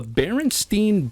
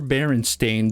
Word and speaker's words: Berenstain: playing good old the barenstein Bears camping Adventure or baren stain Bears however you want to pronounce that depends on if you believe in the Mandela effect or not it's barenstein it's bar stein bears and so it